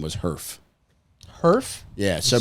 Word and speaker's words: Herff: His middle name was Herf. Herf? Yeah. So Spell that for me. Herff. Nerf with an H. With an extra F.